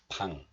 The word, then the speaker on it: 방: This has the B sound as in boy, plus, and this one has the sound of a, so P sound plus a makes pa. Pa, and then one more consonant is followed. This one has 응 sound or ing sound, so this combination makes 방. 방, as in 방탄소년단.